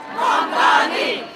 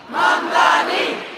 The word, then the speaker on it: Mamdani: People started to learn how to pronounce my name. Mamdani, Mamdani, Mamdani, Mamdani, Mamdani, Mamdani, Mamdani, Mamdani, Mamdani.